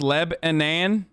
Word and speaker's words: Lebanon: near lebanon indiana and it's pronounced leb anan not non but nan leban welcome to lebanon hey